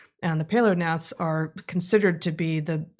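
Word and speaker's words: paleognaths: the we've got birds there's paleons and there's neonates with a silent g in the middle of both and the paler nets are considered to be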